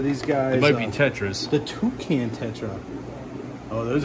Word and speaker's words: tetras: Oh no, more toucan tutras? Yep, or tetras?